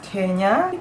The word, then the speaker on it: Kenya: So the first thing you need to know about Kenya is that the pronunciation is Kenya.